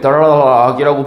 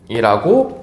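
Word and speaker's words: 닭: 예를 들어서 요런 단어 근데 우리는 이거를 락이라고 발음하지 않고 어떻게 발음합니다 닥이라고 발음을 합니다 그죠 자 그러면은 여기에서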